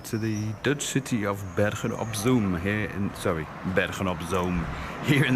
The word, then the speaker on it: Bergen op Zoom: the Dutch city of Bergen op Zoom Bergen op Zoom, here in the south of the Netherlands. Got to get that pronunciation right. Double O in Dutch is O and not U.